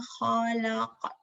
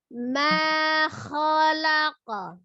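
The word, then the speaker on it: خَلَقَ: Jadi harokat fathah tetap mulutnya terbuka. Hanya dari huruf kho-nya dari tenggorokan bagian atas. Ma kho, ma dari bibir, ma ke al-halki, nggak ada pengaruh al-lisan, nggak ada nggak ada pengaruh safatain, bibir yang monyong.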